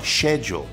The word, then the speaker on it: schedule: Eu vou te falar que eu sempre pronuncio essa palavra schedule, mas tem muita gente que fala schedule. Não tem problema. Mais ainda no Reino Unido, muita gente fala schedule ao invés de schedule.